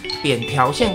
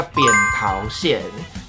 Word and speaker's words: 扁桃腺: 先跟大家就是讲一下扁条线跟扁桃线，正确的发音是叫扁桃线，就教育部有说。